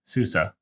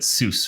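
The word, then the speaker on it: SUSE: and yes su SE Susa that's how it's pronounced because it's a German company so that also means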